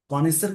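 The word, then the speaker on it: connoisseur: कोनिसर का मतलब होता है जैसे एक तरह से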